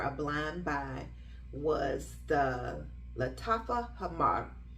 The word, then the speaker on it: Lattafa Hamar: blind buy was the Lattafa Hamar. I hope I rolled my R good, because it deserves to be pronounced properly. Lattafa Hamar. Yeah, it deserves to roll the R in that fragrance.